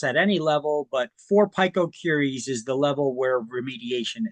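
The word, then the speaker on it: picocurie: Now four PCILL can also be expressed as four PCI or four pico curies or some people pronounce it a pico cury.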